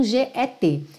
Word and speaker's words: get: dois pontos primeiro que ela pode ser mais ou menos pronunciada e quando eu digo menos é quase nada na verdade então você pode ouvir get você pode ouvir get você pode ouvir get get Ou seja eu chego a botar a língua no t mas eu não chego a soltar esse T mesmo OK get get outra